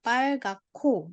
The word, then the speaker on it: 빨갛고: 빨갛고. jadi bacanya 빨갛고.